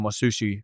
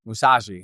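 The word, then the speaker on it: Musashi: appears Yeah, I know I didn't just say his name right, though. Miamato. Uh, Mousashi Miiamoto. Mashi. Mousashi. That's right.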